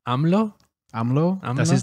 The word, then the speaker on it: AMLO: him amlo yeah which is a great name amlo amlo that's his name that's how you pronounce it well his name is Andres Manuel